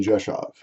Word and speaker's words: Rzeszów: It's pronounced Rzeszów.